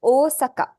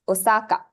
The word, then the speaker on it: Osaka: I think we grow up pronouncing this word as Osaka, if I'm not wrong, right? Until you come to Japan or you learn Japanese and you understand the elongation is misplaced.